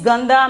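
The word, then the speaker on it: गंदा: okay the next one is ganda okay ganda pronunciation is gandha meaning is dirty meaning is dirty ok means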